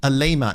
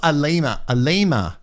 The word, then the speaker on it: Alima: Alima, not Alima.